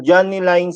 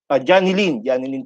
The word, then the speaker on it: Johnny Lynn: Now, para po sa mga ITO and regional ITO na nanonood po ngayon, Ma'am Johnny Line said, pwede po natin na Johnny Lynn pala po ang bigkas daw ng kanyang name.